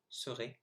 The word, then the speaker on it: serait: So here are the 8 words I mispronounced. So I should have said the second time traverser, dans, tout, Afrique, chameau, serait, génial, nul.